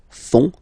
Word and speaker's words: font: And ils, plural, font, final T not pronounced, font, elles font.